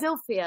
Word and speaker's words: Zilpha: It's spelled Zilpha. I don't but like they said it. it's Zilphia.